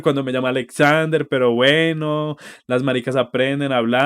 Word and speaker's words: Alexander: parece como súper gracioso además que no sabía pronunciar mi nombre porque decía como alexander cuando me llama alexander pero bueno las aprenden a